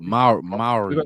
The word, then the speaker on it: Mowry: Mowry, yep.